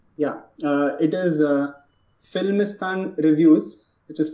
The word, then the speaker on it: Filmistan: out your reviews yeah uh it is uh filmistan reviews which is spelled as f i l m i s